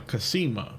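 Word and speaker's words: Cassima: side as well uh casima according to the pronunciation in King's Quest 6 and five I believe as well all right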